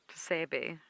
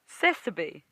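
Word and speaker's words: tsessebe: So it's not Tsebe, how I was saying it. It is Sesebe. Sesebe. Very similar. Again, you don't pronounce the T, but wrong pronunciation on different parts of the word.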